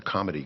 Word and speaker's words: comity: And it was because of a provision in international law known as a comity clause, not comedy like a Comedy Act.